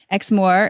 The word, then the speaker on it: Exmoor: called The Almost xmore Exmore is spelled e ex m o o r like the Moors yeah absolutely the there's